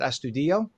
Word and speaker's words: Astudillo: Mayor Mundell and firefighter Astudillo, and am I pronouncing your name correctly? Is it Astudillo? That's perfect.